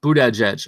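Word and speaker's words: Buttigieg: a pear tree but again pronounced Buddha edge okay I'm not even saying all right Buddha edge who did sounds so weird who to judge food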